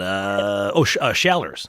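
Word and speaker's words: Schaller's: Shallers, as they pronounce it in Rochester.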